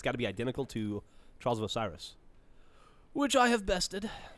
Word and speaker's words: Trials of Osiris: I have yet to play this game type, but I imagine it's got to be identical to Trials of Osiris, which I have bested. It's pronounced Osiris. I lied.